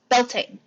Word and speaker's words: Beltane: Okay, so again, possibly incorrect pronunciation incoming. Beltane? Beltane.